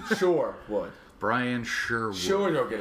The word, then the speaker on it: Sherwood: No, sure, not share. Not Robin Hood. Sure. S-U-R-E. Oh, Brian Sure. Oh. Yeah. Oh, okay. That changes things. Right. Sherwood.